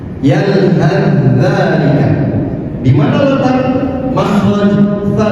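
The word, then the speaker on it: يَلْهَثْ ذَٰلِكَ: Yalhad dzalika sama fa sukun bertemu dengan zal. Cara membacanya adalah dengan diidghamkan. Seakan-akan fa ini tidak ada, jadi langsung ditasydidkan. Yalhad dzalika.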